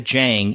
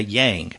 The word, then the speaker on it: Jang: next month sincerely Jang and she says pronounced with a hard J parenthetically um so we were saying last week Gwen and I were pronounced we're pronouncing her name Yang but she wanted to